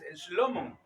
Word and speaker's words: Shlomo: Los nombres tienen su pronunciación en hebreo y según el sonido, según los fonemas, los traductores trataron de darle algo parecido. Por lo menos Salomón es Shlomo, Isaac es Itzhak.